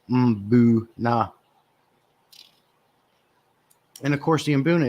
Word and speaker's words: mbuna: think we all know how to pronounce imbuna properly boo nah and of course the